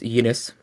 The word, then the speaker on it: Linus: Well, Linus, actually, but that's okay. He doesn't get upset about any of it. Or if I wanted to be more precise, I could use apparently this Finnish pronunciation is Ines.